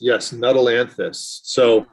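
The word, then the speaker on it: Nuttallanthus: But old field toad flax, Nuttalanthus canadensis, maybe? Yes, Nuttalanthus.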